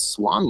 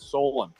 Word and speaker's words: Solon: So this is our 13th one, and today we're going to be talking about Swan Labs. Am I saying that right, Quantum? I'm pretty sure you pronounce it as Solon.